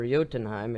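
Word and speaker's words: Jotunheim: and the Giants of jotenheim or yotenheim if you want to pronounce it in the ancient Viking dialect are the descendants of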